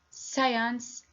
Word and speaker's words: science: So here we don't pronounce the letter C because it preceded by S.